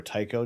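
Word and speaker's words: Tycho: that is the uh the teaco crater or taiko depending on how you want to pronounce it um after the dutch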